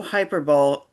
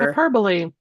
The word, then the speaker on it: hyperbole: You will find no hyperbol h I don't know how you say it hyperbole here. Hyperbole hyper hyperbole hyperbole I was doing so good just facts analysis and historical parallels.